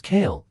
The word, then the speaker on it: Kale: Her name was Cale, 2 syllables. The second one dropped low.